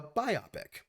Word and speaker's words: biopic: so there's that uh it's like biography plus picture biopic and i was i